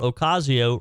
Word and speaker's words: Ocasio: I thought Ocasio rhymed with Ocrazio.